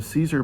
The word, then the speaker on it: CZUR: And I told them straight out, I was like, look, when my brain savant gets freed, I want the Caesar machine. It's spelled CZUR.